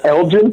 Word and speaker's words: Elgin: And Michael England comes out and starts beating him up.